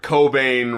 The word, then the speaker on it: Cobain: is the fact that Kurt Cobain rhymes with brain cuz I am so